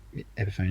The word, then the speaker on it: Epiphone: How do you pronounce it? Epiphone? Epiphany? I don't know. Epiphone. Epiphone, yeah.